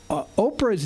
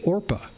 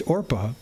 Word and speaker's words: Orpah: It comes from Orpah, which is from the book of Ruth, and her real name is Orpah. It's Orpah, but the family and